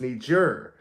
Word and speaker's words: Niger: pronounced to get wrong it's Niger I need your need yours something like that Niger it was like a j it's like a j like ending to it right I've heard him pronouncing